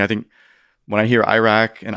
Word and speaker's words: Iraq: Iraq, Mhm. Iraq. I think there's come to be a fit between certain ways of pronouncing these places and the position that Americans take about them, right?